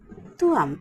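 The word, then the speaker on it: ত্বম্: আমি মানে অহম তারপরে হচ্ছে তুমি মানে তুয়াম উচ্চারণটা হচ্ছে তুয়াম তৈ ময়ম এটার উচ্চারণটা কিন্তু মতো হবে আমি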